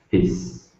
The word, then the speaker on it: fizz: Fizz. Fizz. Fizz. Fizz. I think it's voiceless. Okay, it's the Z sound, so fizz. If you say it right, you'll feel it in your throat.